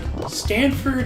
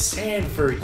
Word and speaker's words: Sanford: It's Stanford? No, it's Sanford, you twits.